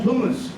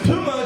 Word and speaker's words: Puma: I went, hey, dude, those are some cool Pumas. He goes, Puma, it's pronounced Puma. It's an animal, lives in a jungle, it's a Puma, not a Puma.